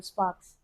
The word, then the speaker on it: Spax: Sparks. No, Sparks. It's spelled SPAX.